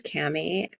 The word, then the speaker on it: Kami: grew up with your name my name is Cammy and it has origins in Japan but I